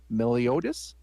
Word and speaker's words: Meliodas: are you me the elf says i am meliotis and that's how you pronounce it also known as the slayer of